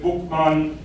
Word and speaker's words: Boukman: Boukman got his name, the way it's spelled in the French sources is Boukman, but the historians from the English tradition believe that his name probably was originally Boukman, Bookman, and that could have been